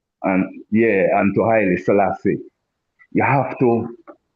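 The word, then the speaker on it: Selassie: follow protocol the protocol the name highly salass the first is the man's name. that is is his is baptismal throne name not Salassi you understand so and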